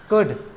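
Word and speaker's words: could: तो आपको यहाँ पर एल नहीं पढ़ना है, आपको क्या पढ़ना है, कुड, उड, शुड, इस तरीके से प्रोनाउंसिएशन इसका करना है।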